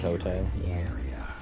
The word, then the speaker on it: Quixote: I like how the word quixotic comes from Don Quixote, a man whose name is not pronounced like that. Quixote.